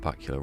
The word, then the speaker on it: Bakula: Scott Bakula rhymes with Dracula.